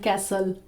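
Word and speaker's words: castle: Kristen built a sand कैसल। कैसल इसको बोलते हैं अमेरिकन इंग्लिश में, एंड ब्रिटिश इंग्लिश में इसको प्रोनाउंस करते हैं कासल।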